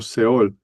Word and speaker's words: Seol: Y he notado que en la Reina Valera 1960, esta palabra hebrea no se traduce en español, sino siempre se traduce tal como se pronuncia en el hebreo.